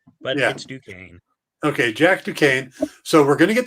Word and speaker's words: Duquesne: been cast as jack dukeness to quinn is ducane yeah the swordsman doesn't look like duquesne it